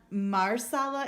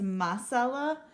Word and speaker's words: masala: this is garam masala it's not marsala it's masala it's spelled like this